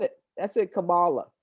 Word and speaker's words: Kamala: let's show them proof let's show trustfully um camilla will um oh kamala what is the right pronunciation for her name because you said it that's it kamala kamala isn't it yeah so looking back at her